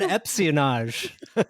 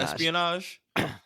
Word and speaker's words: espionage: you open the door when you said epion and I think you said it twice me did I say it wrong espion Espionage Espionage sorry whatever I I kind